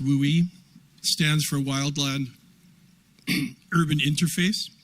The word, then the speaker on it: WUI: dwell on that, but WUI or pronounced WOOI stands for wildland urban interface.